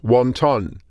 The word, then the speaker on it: Hundún: El personaje, literalmente, central de este relato es Hundún. Fuera de China, la palabra "hundún" es mejor conocida en su pronunciación cantonesa: "wantán" Un wantán es una